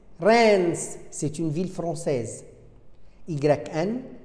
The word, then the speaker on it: Reims: AIM, fin, EIN, peintre, EIM, Reims, Reims, c'est une ville française.